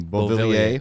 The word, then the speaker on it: Beauvillier: Beauvillier.